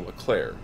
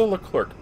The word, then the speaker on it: Leclerc: going to talk about the LeClair where they look lurk depending on how you want to pronounce it this is this is